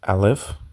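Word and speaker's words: Aleph: top left you have what is called the alive and the sound is silent as you can see and we are moving to the name it's Al if and the meaning is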